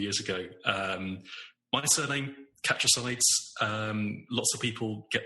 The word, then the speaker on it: Catchesides: Community around here and lots of people assume it's pronounced catches um where it's just